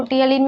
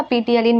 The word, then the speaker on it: ptyalin: ठीक है, उसको टियालिन भी बोल सकते हो या पीटियालिन भी बोल सकते हो, डिपेंड करता है। पी इसका साइलेंट है।